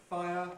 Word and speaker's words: fire: by another vowel oh in its full form fire has two syllables five up five but